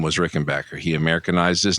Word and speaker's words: Rickenbacker: First of all, BACK is not pronounced Bach.